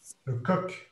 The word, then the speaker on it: le coq: Le coq.